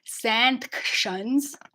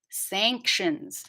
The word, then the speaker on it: sanctions: looks like s-a-n but when you see an n before a t it's usually pronounced in the back of the mouth so i'll show you